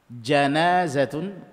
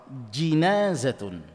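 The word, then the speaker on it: جنازة: Huruf "jim" dapat diucapkan dengan fatha. janazatun atau dengan kasra, jinazatun. Ini adalah dua pelafalan linguistik dalam bahasa Arab dan dalam bahasa kita, kita sering menggunakan istilah jenazah .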